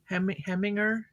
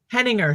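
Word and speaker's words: Heiniger: lot yeah i bought the i can't ever pronounce the name the herring herringer heminger having her oh henninger thank you the opal clippers um i bought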